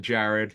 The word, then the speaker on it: Gerard: Say hello to my man Jared. He spells it Gerard, but he pronounces it Jared.